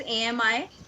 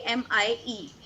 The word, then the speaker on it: ami: girl, it will be AMIE. And if you want to ma'am, say how will we pronounce both? Ami, both are Ami.